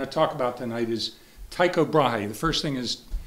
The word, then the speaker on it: Tycho Brahe: you can say Tuco because this isn't a Danish name it's latinized um and Latins borrowed their why from the Greeks which is opsilon which is pronounced to anyhow this can be brah brahi or brah and you